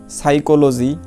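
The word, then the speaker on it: psychology: তারপর দেখো এই যে সাইকোলজি, হ্যাঁ, অর্থ মনোবিজ্ঞান, হ্যাঁ, এ জায়গায় দেখো এই পি এর উচ্চারণ হয়নি।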